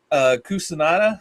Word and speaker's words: Cucinotta: Cucinotta, I believe is how you pronounce her name.